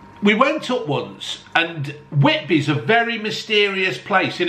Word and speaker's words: Whitby: Whitby.